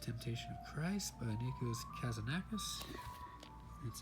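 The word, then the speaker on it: Kazantzakis: Last Temptation of Christ by Nikos Kazanakis.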